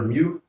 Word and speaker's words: mu: this little symbol here is the Greek letter mu that's how it's pronounced I guess you could think it's pronounced